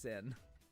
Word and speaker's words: Cyn: It's spelled C Y N, but it's it it's it's pronounced sin.